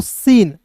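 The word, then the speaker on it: scene: तो इसे पढ़ते हैं दोस्तों सीन। ठीक है? यहां पे देखिए एस के बाद सी आएगा तो सी साइलेंट होगा।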